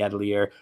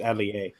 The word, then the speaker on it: Atelier: It's not actually Atelier. It's Atelier. You don't pronounce the R.